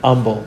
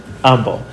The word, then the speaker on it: Humble: from humble texas but in humble we don't pronounce the h so we say humble texas humble and um but i